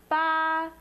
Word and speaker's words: 八: 8, 八, 不, 啊, 八, 4, 8.